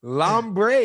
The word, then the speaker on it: Lambre: it is lambre. Yes, exactly. That's exactly how you say it.